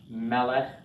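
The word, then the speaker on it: מֶלֶךְ: It had the accent on the first syllable.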